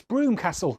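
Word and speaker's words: Brougham Castle: I'm told you pronounce this Broomcastle.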